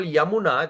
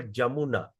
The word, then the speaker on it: Yamuna: That's why when we call Yamuna, they call Jamuna.